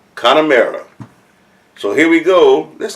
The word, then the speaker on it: Connemara: first time my tasting the first time oh pronounce it again connor mara connemara so here we go let's go with the